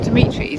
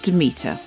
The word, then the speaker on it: Demeter: I don't know you said Dimitris it's not Dimitris it's about Denmark see they're a bit voiceover required despite research I still can't promise the best pronunciation for this is a temple of Demeter Demeter is a goddess of grain and this